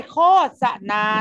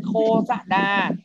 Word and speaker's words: โฆษณา: หรือ นาย ธนา เครียด เรา จะ ต้อง อ่าน ว่า ป้าย โฆษณา นะ ครับ ไม่ ต้อง อ่าน โฆษนา อ่าน ข้อ ษณา นะ ครับ เป็น การ เผย